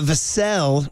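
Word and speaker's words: Vassell: have Devin VA uh vasel rhymes with Sam casselle vasel didn't play he's like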